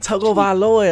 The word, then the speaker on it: Tagovailoa: You can't even say his name. Tagovailoa. That is how you say it.